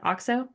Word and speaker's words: Auxo: And where can people find your sort of, was it Auxo? Also, yeah, so Yes. And spell it for us because that's what I'm struggling.